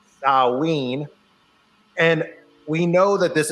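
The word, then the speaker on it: Samhain: 13th and runs to the 31st for Saline Sam Hayne whatever you want to call it I always say sam Hayne but I should say it's pronounced uh ween and we know that this is when the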